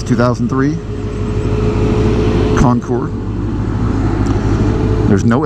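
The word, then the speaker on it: Concours: ten years old at the time it's 2003 Concord there's no s on the end although there is Ness you just don't pronounce it take note you do not pronounce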